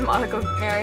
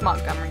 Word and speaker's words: Montgomery: by LM Gummer II I know I pronounced it Monica Perry in the last bookshelf tour video it's Montgomery I'm sorry again I do the